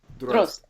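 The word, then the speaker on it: Дрозд: How do we pronounce it? Drozd.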